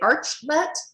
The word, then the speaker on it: Archlet: Do I say Archlet? Archlet? How do you pronounce it? This is a very common problem, Dawn. Actually, it's Archlet. We wanted to build an arch between buyers and suppliers, but then we realized,